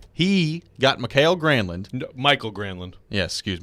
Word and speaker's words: Granlund: So Mike No, Granlund. I love Bradford's. Bradford and Poyle are like opposite ends of the spectrum. Poyle makes every name like how he wants it to be, like Mikey Grandland, and Bradford tries to looking at the pronunciation